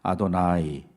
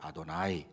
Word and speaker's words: 아도나이: o 와 라고 써있지만 써 있기는 여호와 라고 써 있지만 다른 단어로 읽어 아도나이 이렇게 발음을 하는 거예요 어여 하라고 안 읽고 아도나이 이렇게 바로 말하는 거예요 왜냐하면 거룩한 하나님의 이름을